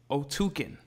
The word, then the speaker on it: Otyken: So it's pronounced what? Otyken.